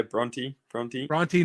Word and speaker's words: Bronte: So Brooklyn, like we mentioned, originally from Australia, the town Bronte, how do you pronounce the town? Yeah, Bronte, New South Wales.